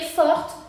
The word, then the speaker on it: forte: ¿Por qué forte? Porque tenemos aquí una e sin acento, por lo que no se va a pronunciar.